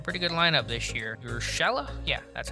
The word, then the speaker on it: Urshela: Urshela?